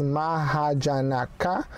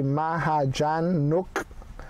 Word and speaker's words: Mahajanaka: story now of course i've pronounced it before as maha janaka um which would be the english way when you see the word that's how basically you would think it's pronounced right but you guys have told me no it's pronounced as it's n okay you guys saw me at the end although it's spelt n-a-k-a um you have to say maha-jan nook so i'm not quite